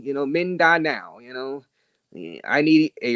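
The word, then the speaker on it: Mindanao: oh all right hey this how you pronounce it uh men die now okay men die now that area men die now I was pronouncing it horribly wrong so uh men die now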